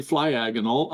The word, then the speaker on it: Flyagonal: No, you're pronouncing it correctly. Flyagonal.